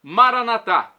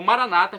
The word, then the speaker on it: Maranata: aramaico dialeto de Jesus maranat como dizemos nós católicos ou Maranata como dizem nossos irmãos separados os evangélicos ou protestantes não importa a pronúncia o significado é o mesmo vinde Senhor Jesus um